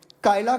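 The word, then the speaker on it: Kylaq: spell क्या किया जाएगा कायला कि कलाक कायला क्यों कायला उन्होने बोला है उन्होंने बोला कायला है ओके तो कायला इसको जो है वो प्रोनाउंस किया प्रोनाउंस किया जाएगा आप अपनी तरफ से भी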